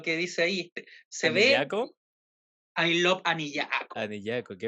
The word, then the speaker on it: Anillaco: Se ve ¿Anillaco? I love Anillaco. Anillaco, ¿qué vendría siendo eso? Anillaco. Anillaco. Eh, Anillaco, no, Anillaco, en La Rioja no pronuncian la L.